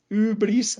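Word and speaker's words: hybris: toda la historia griega se escribe ibris con la i griega ubris se pronuncia se puede traducir más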